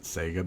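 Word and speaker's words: Saiga: want to call it I I pronounce it Sega because whatever um but yeah I mean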